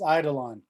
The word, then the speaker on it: Eidolon: I'm going to pronounce this wrong, because I pronounce everything wrong. Eidolon. It's Eidolon.